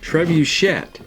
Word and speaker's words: trebuchet: up my young friend it looks french but it is actually pronounced trebuchet just kind of like it looks yes um so it